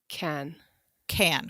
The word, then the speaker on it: Cannes: canned it's canned up can con what should i call it sarah you're the expert in french it's can can great i'm glad i'm